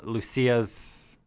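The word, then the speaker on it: Luccia: unlocked him from uh lucia's office um or juicias don't remember her name it's it's lucia um but i feel like it there's i don't know like they spell it weird it's l-u-c-c-i-a lucia um so you you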